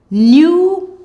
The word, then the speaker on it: pneumonia: When you see PN in a word, the P is silent. PN says N. Let's go. Pneumonia, pneumonia.